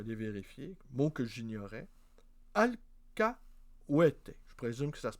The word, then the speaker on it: alcahuete: espagnol, je te l'ai vérifié, mot que j'ignorais, alcahuete, je présume que ça se prononce comme ça.